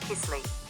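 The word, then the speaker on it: кисель: dessert what is kaisel the name is from the Russian word meaning sour pronounced Kissle the first mention of kisel was in the 10th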